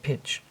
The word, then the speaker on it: pitch: The t is silent in the spoken word pitch.